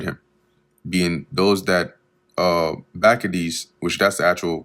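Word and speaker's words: Bacchides: He commanded also that the hostages that were in the tower should be delivered him being those that uh Bakades which that's the actual correct pronunciation.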